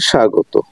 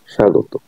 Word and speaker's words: স্বাগত: নিচে আলোচনা করা হলো শব্দের শুরুতে যুক্ত ব্যঞ্জনে ব ফলা যুক্ত হলে তা সবসময় অনুচ্চারিত থাকে এবং সে বনের উপর